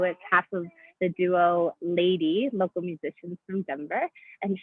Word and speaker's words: LVDY: kathleen cooper who is half of the duo lady local musicians from denver and she is going